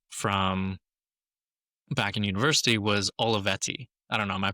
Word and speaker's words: Olivetti: Give me the Italian version. Olivetti. Okay, that's way better.